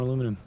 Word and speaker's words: aluminium: And once again, uh, we are going to need more aluminum. Say it properly. Say it like Bernie Sanders. Aluminium. Once again, we shall need more aluminium.